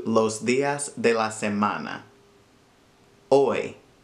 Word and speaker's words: hoy: Hoy. Don't forget that the H is silent. It's not hoy, it's hoy.